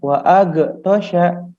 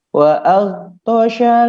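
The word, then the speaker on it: وأغطش: Jadi tidak qalqalah, bukan wa ag ya, tapi ditahan. Wa al tosha, bukan wa ag tosha ya. Jadi cara bacanya wa aghtasha lailaha wa akhraja duhaha.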